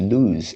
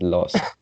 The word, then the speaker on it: lose: okay second line last second would this is lose and you pronounce as lost okay lose use and then the next line